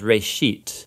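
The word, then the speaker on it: Bereshit: of it's called Genesis Genesis comes from a Hebrew word it's pronounced race sheet and it just means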